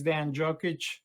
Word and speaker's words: Dean Djokic: and my name is Dan jokic just the way it's spelled you shouldn't have a